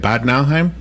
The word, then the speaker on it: Bad Nauheim: Bad Nauheim?